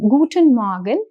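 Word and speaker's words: Guten Morgen: Now if you observe the pronunciation of air the pronunciation of air in dodge is really subtle. So the pronunciation is guten morgan.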